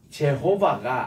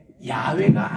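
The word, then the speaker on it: Yahweh: 부르는 사투를 듣게 돼요 학자들이 그래서 혹시 이게 제호바 아니고 이게 야외가 아니겠느냐 요거는 이제 다시 미국식으로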